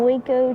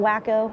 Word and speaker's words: Waco: This is a 1929 Waco taper wing. Huh. They pronounce it Waco. Oh, it was a wo. Okay. Not wacko or waco.